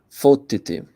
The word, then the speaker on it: fottiti: But anyway, we have the double T. When you have double T's in some word, you have to pronounce strongly. So, for example, fottiti, fottiti. It's like a double sound.